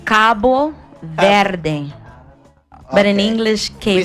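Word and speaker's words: Cabo Verde: you say about cap vering how do you pronounce it Cy it's Cabo ver but in English we say just like um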